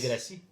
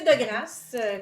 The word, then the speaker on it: De Grasse: Non, André c'est- de Grasse? C'est de Gracie. Non, ça se Non, prononce de de Grasse.